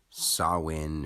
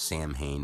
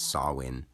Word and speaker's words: Samhain: Harvest you could say sawin or some people think it's pronounced Sam Hayne but it's sawin and we could go